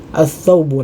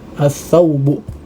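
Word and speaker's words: الثوب: Ya, nah, di sini huruf lamnya kita tidak baca ya. Kita tidak baca walaupun di secara penulisan ya dia nampak huruf lam, akan tetapi kita tidak baca ya, tidak membacanya ya. Jadi kita bacanya ats-tsaubu, langsung masuk ke huruf tha ya, ats-tsaubu, ats-tsaubu, jadi ada tasydidnya ya.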